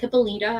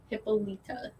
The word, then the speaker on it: Hippolyta: me out when she was outside um hipaa hippolyta i always butchered the pronunciation of her name hippo hippo hippolyta but this is um oh my god roberto